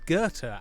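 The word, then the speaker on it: Gåte: got an act called Gerta as in like the the scand the German g g a with the circle over at te pronounced Gerta a that I'd love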